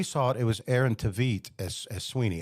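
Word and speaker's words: Tveit: And when we saw it, it was Aaron Tvit as as Sweeney. I think it's Tvite. I think that's how you pronounce it.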